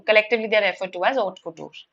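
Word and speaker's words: haute couture: The H is silent here.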